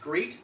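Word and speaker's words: grate: Fahrenheit Etc I like great the cheese g r a t e yeah that's the same pronunciation as Grande you know great like yeah great is is this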